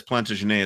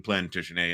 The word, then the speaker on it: Plantagenet: I've gotten major pushback, by the way, for pronouncing it Plantagenet instead of Plantagenet, like one might pronounce it if one were hypothetically from Ohio. They were French. They spoke French.